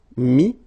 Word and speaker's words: mettre: Then ETTRE will give you this ES, but then you don't pronounce the S, so you get I. Mettre, mi, and then ENDRE, ES, but then same thing here, the sound I.